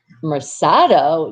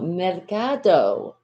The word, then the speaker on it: Mercado: of it oh wait but i thought mercado was marsado no mercado see sometimes people don't even know how to pronounce my name don't worry just call